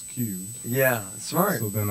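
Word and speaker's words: Qubed: Cube Entertainment is cubed, not cubed. Yeah, spell that think. For everybody. It's Q-U-B-E-D, and the genesis of it is that so I use the Q.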